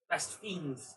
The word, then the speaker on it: Best Fiends: Best Fiends. That's right, I heard a story. It's pronounced Fiends.